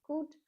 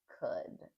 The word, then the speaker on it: could: Also, the pronunciation of could. It's not could or anything else. It's could.